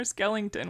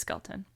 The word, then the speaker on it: Skelton: name was like wait is it Skelton or Skellington what's the real version It's skeleton so there's been rumors